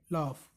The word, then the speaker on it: laugh: इसमें लाफ की स्पेलिंग जो जी एच है LAUGH, इसको क्या पढ़ेंगे? लाफ।